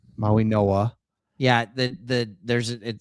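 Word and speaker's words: Mauigoa: Maui Noah. Maui Noah. Yeah, that that there's a it's it's said the G sounds like an N which totally makes sense.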